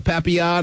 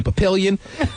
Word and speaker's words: papillon: Wait, a little French girl with the papillon and the, I'm sure most people say papillion. Yes, and I commend you for pronouncing it correctly.